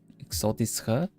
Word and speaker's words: exotische: Exotische, yeah, right. You don't say the h at the end of that.